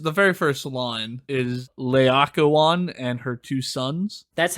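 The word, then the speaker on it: Laocoön: sure waitaka one yeah in my head it was like Lao Kun and I was like that's not it that doesn't feel like that doesn't sound Roman I I don't know any better but I know that it's wrong I think I could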